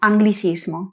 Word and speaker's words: anglicismo: Un aspecto interesante es que a veces encontramos escrito g + l + i, pero no lo pronunciamos y sino gli. Estas palabras son excepciones. Tenemos en primer lugar las palabras que tienen una nupo GL I, como por ejemplo anglichismo, anglicismo.